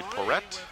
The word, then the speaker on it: Porrett: Back on defense, that was Melissa, make sure I pronounce this correctly, Porrett, P-O-R-R-E-T-T.